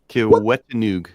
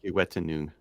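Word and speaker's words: Kiwetinoong: Kiwetanug. Tanug. Is it Noog or is it Noon? Noon. Is it Noon? Noon. Okay. Kiwetanug.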